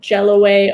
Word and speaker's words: Jelloway: in a place called jelloway ohio can you spell that yes it's jello like the dessert way w-a-y yeah okay are there